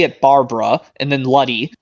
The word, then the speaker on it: Luddy: I know how to say it, Barbara, and then Luddy. It's with 2 D's after the L-U, 2 D's, and then Y. That's how you say Luddy.